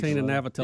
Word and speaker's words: Navratilova: Martina Navratilova.